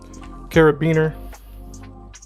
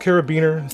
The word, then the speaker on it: carabiner: This right here is just a carabiner, a D-ring, whatever you want to call it. It's pronounced carabiner.